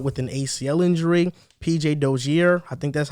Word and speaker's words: Dozier: PJ Dozier, I think that's how you say it actually. I mispronounced his name.